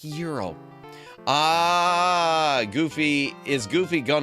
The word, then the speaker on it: Gyro: It's pronounced Euro.